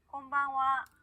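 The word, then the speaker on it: こんばんは: 곤방와, konbanwa 곤방와. 네, 좋습니다. 이것도 역시 인사말로 할 때는 하 발음이 아니라 와 발음으로 한다는 거 기억해 주시고요.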